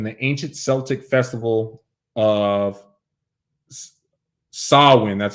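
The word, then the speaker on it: Samhain: its roots in the ancient Celtic Festival of sawin that's how you say a gaic word pronounced sawin a pagan religious celebration to welcome the Harvest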